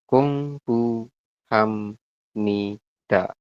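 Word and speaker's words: 공부합니다: P-nya ganti Hamnida. Oke. Ham. Nida. Iya. Seperti ini ya, Robun. Terima kasih Mas Tommy. Jawabannya sudah betul ya. Jadi dibacanya adalah Kung Bu Ham Ni Da.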